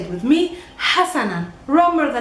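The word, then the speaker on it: حسنًا: It's Hassanan, Hassanan. Try to say it with me, Hassanan.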